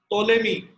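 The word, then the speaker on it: Ptolemy: ठीक है, एक साइंटिस्ट है बेटा टोलेमी, स्पेलिंग है पी से स्टार्ट होती है, साइलेंट होता है बेटा, टोलेमी, ग्रीक साइंटिस्ट है बेटा।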